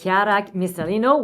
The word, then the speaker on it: Chiara Missalino: And today we're sitting with Chiara Missalino.